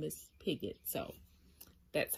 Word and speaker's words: Pigott: by georgia pigott and that is how you pronounce her name i was saying pick god or whatever i was saying it's picket it's